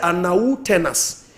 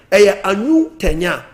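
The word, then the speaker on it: Arnau Tenas: The name pronunciation is a Catalan. Who born in English, or say Anau Tenas. But in Catalonian, Anu Tenya.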